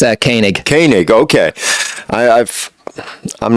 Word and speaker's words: Koenig: I'm going to probably butcher your name kig did I say it right it's a kanig kanig okay I I've I'm not I'm terrible